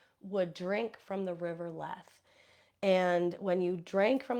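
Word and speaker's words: Lethe: those who died would drink from the river leth and when you drank from the river leth you would forget the previous life and people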